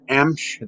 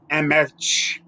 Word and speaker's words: Emch: Emch. They add vowels and words like they think they're going to correct how it's said. So it's just pronounced Emch, E-M-C-H.